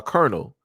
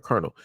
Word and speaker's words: colonel: you look at uh Colonel, you know, as in, you know, like military wise, like Colonel, the way you say it is not the way that it is spelled.